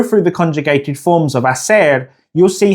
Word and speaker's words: hacer: Now in Spanish, both meanings use the same verb, hacer. Now, as you may have already noted, the H is silent in Spanish. So if we go through the conjugated forms of hacer, you'll see how the H is never pronounced.